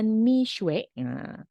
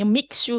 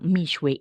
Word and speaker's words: Mixue: nih pelafalannya karena memang Saya tahunya mix you kalau dulu tapi ternyata harusnya berasal dari kata Me dan suwe dalam bahasa Mandarin mie berarti madu atau